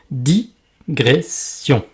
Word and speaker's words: digression: erreur assez commune que dans digression, il n'y a pas de S avant le G, contrairement à transgression, bien prononcé digression et nongression.